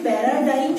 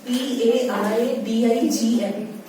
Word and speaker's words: paradigm: Sustainable development is a paradigm shift in development thinking. You can note down. Sustainable development is a Sustainable development is a paradigm. PARADIGM. Paradigm. G is silent. Only that is spoken as paradigm.